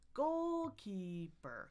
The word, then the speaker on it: goalkeeper: Most words are going to have primary stress and no stress, but this one has secondary stress in the middle. I love that it's primary, secondary, no because it's like walking down the stairs. It's like goalkeeper, goalkeeper, goalkeeper, and my pitch is going to go down just one step at a time.